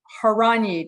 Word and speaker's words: Horanyi: All right, Danny, you're going to have to make, okay, Horanyi. Did I do it right? That's right. Yeah. There you Excellent go. There you pronunciation.